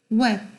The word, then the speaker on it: web: 그래서 웹은 발음이 B가 나. 아니야. 웹은 발음이 B가 안 나. B 발음은 안 나. 이렇게 싸울 일이 아니란 얘기예요. 발음이 나요, 안 나요? 발음 나요. 실제로 아예 안 나는 게 여기 존재하잖아요.